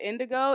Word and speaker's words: Indigaux: pronounce your name yeah my name is pronounced Indigo it's spelled i n d i g a uux the Au X at the end throws people off heavily fire yeah so just